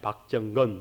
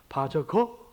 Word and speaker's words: 박정근: 이름이 뭐냐고 물어서 제가 박정건입니다. I am 박정건 이렇게 하면은 그 사람들이 뭐냐, 바저거 그러고 이러고 발음을 해요. 저거 그러고 정근 그러고 뭐 이상하게 하여튼 발음을 해요.